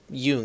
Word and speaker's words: Jung: Anywho, this mission is given by Jung, Jung is the correct pronunciation, but the little creepy kid who's in no way, shape, or form reference to that kid from Akira.